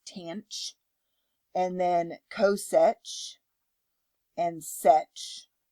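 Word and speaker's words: tanh: And then we have tangent, which in hyperbolic is tanch.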